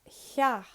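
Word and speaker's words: theach: And last but not least, we have the letter T. It's pronounced like H-Y. Hye. The word cha, house. When you add SÉIMHÍÚ, it's hya. So that is all the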